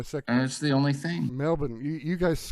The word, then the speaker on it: Melbourne: that's the only thing Melbourne you guys call it Melbourne Melbourne like that you don't pronounce the r like we do like Melbourne most Americans would probably say Melbourne Brisbane right well you